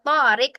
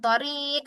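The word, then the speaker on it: طارق: Ya, ya, akhwati, yang panjang di sini adalah huruf to-nya. Jadi, cara membacanya adalah dengan memanjangkan to, bukan di ri atau di hi-nya. Bukan torik atau tohir. Lah ya, akhwati. Yang benarnya adalah torik dan tohir.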